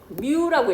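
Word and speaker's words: μ: m은 아니고 뮤라고 읽어. 뮤.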